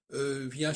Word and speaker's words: vient: Alors, il vient, par exemple, il vient, on ne prononce pas le T quand il vient.